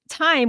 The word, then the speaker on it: thyme: that supports the thymus so time which is spelled t h ym has a a sci